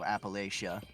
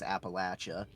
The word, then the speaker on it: Appalachia: I got into Fallout 76 lately, and it takes place in West Virginia, so Appalachia, which they, of course, being from West Virginia, they pronounce it as Appalachia.